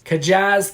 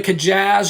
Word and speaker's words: Kjas: pronounce it myself but i think it's kajaz kavicdelin that's the best